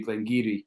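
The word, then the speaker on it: Glen Garioch: I thought you were going to say because probably the in our region, the biggest mispronounced one has got to be Glengarry.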